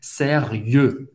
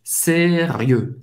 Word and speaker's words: sérieux: Sérieux. Sérieux. O X não se pronuncia. E o em francês tem o som do E bem fechado. Faz a boca do O e fala E. E. Sérieux.